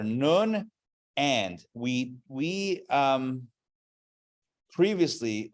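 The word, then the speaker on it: נון: this letter is called it's spelled like none but it's not none it's nun the way it's pronounced in Hebrew right dreidel spin that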